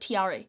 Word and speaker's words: Tre: TRE. It's not a tree, it's a TRE.